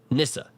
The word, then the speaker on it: Nissa: My name is said like the name Alysa, but replace the Al with an N. Nissa.